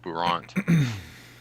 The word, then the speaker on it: Brant: It's pronounced Bourant.